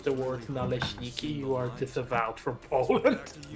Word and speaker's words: naleśniki: unless you can pronounce the word naleśniki, you are disavowed from Poland.